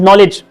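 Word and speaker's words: knowledge: और जा रहा है ये स्टार्ट हो रहा है के से और के क्या है साइलेंट है लिखने में के आ रहा है बट बोलने में के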